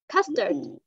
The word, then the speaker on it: custard: Custard. Custard. Custard. Đúng rồi. Custard apple. Custard apple. Đó, lại con bị nuốt mất chữ tờ của cô rồi.